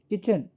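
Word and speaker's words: kitchen: इसको पढ़े किचन तो टी साइलेंट है।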